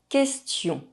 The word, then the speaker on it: question: 8 - Silent U The letter U is not pronounced when it’s between the letter Q and another vowel. Une question A question Quatre Four